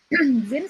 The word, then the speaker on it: zine: kita masuk cerita ada Zin nih ceritanya bacanya Zin ya teman-teman ZM Zin eh Z adal